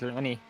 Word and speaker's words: Landis: was like, "My name's Lanny." I mean, that's how he. How about Laney? The actual name is Landis, but it's pronounced Really? Lanny.